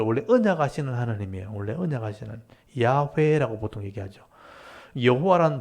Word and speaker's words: 야훼: 그래서 이제 자음에다가 아도나이 모음을 붙이니까 여호와라는 발음이 나온 거예요. 그래서 여호와라고 우리가 이름 불렀지만 실제 학자들이 연구해 봤을 때 이 하나님의 이름은 야훼다. 그래서 야훼란 말도 들어보셨죠? 그래서 이제 이게 정확한 발음일 거다 하고 이제 주장을 하는데 둘 다 쓰이는 거예요. 그래서 어떤 뭐 이렇게 교회 가면 하나님을 이 여호와란 말을 야훼라 읽기도 하고 또 이게 통상적으로 그냥 여호와라 읽기도 하는 거예요.